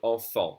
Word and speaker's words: enfant: As I said earlier, the last consonants of words are silent. And here this word would be grand. If I pronounce it alone, it's grand. And this is the word enfant. We don't say the T, we don't say the D.